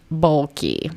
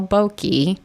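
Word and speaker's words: Boehlke: to say it bulky there's like an h and an l and an e b o e h l k e bokei I'm sorry Sammy Samuel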